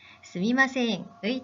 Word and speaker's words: すみません: 스미마셍을 스이마셍으로 발음하기도 합니다. 아, 정말 너무 혼란스러워요 하는 학생들이 있는데요. 두 표현, 의미의 차이는 없습니다. 하지만 두 표현 중에 스미마셍이 올바른 표현입니다.